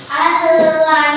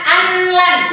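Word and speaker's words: أن لن: Allan. Nah, allan. Allan bukan anlan. Kalau anlan salah.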